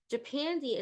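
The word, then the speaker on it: Japandi: season is Japan day japani is a stylistic aesthetic that takes modern Japanese um design with Scandinavian minimalism how do you spell it japani j-a-p-a-n-d-i so there's scandi and you have Japan japani so it is the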